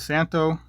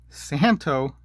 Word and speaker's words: Szanto: watch here this is santo santo the z is silent always forget santo military